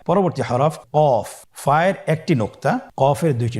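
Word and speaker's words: ك: Calf উচ্চারণের ক্ষেত্রে অবশ্যই পাতলা করে উচ্চারণ করতে হবে এবং 3 আলিফ টেনে পড়তে হবে।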